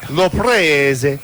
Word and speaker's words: Laprise: You have to say it properly. Laprise.